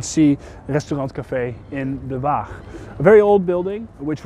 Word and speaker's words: waag: And a waag, which kind of sounds like the word weigh in English, was in fact just